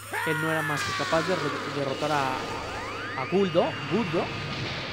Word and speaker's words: Guldo: Guldo. Según yo era Gurdo, pero bueno... Guldo cambian las pronunciaciones del japonés al español.